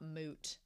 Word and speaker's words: Mutt: And then we have the conversation between Orden and Stark about Moot. I'm sad that his name is spelled Mutt, but he's like Moot.